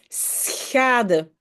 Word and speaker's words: schade: Vous devez, chaque fois quand vous avez les SCH, d'abord dire un S et puis ces fameux.